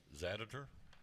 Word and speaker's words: Zaditor: This is called Zaditor. Yep. Did I get it right? Yep. Zaditor.